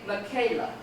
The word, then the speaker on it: Michaela: Her name is spelled the exact same way. She pronounces it Michaela. Oh, you're all nodding your head. Okay, Michaela. So first syllable is stressed here.